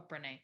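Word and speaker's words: Pranay: fun of course okay let's go with brene sorry what we're gonna go with friend a p-r-a-n-a-y p-r-a-n-e-y n-a-y yeah or brene I mean that's just how it's like emphasized pronounce yes that's what angle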